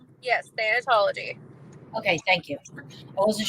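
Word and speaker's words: thanatology: never heard of am I saying it right than anology yes than anology okay thank you I wasn't sure um and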